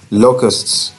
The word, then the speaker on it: locust: आज बेटा हम ये 10th लेसन जो है ये स्टार्ट करेंगे, a mild attack of लोकस्ट्स। Right, अगर आप डिक्शनरी को देखें तो आपको इसका जो प्रोनाउंसिएशन है लोकस्ट्स का वो आपको कुछ इस तरह से नज़र आएगा।